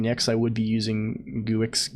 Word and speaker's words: Guix: I would be using guix Geeks or whatever yeah someone told me a long time ago that you pronounce it Geeks um to lose a